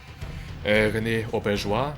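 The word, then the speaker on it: René Auberjonois: Mit Simon Templeman, Michael Bell, Tony Jay, René Auberjois, habe ich es richtig ausgesprochen?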